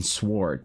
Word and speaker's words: sword: have all Astron Knights pronounce the W in Sword just to make people mad because occasionally I'll say I'll just naturally say the word sword and somebody will be